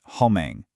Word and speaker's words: homem: The first M starts the second syllable, so it's our familiar English M, but the word ends with another M, which has to be nasal, making it homem.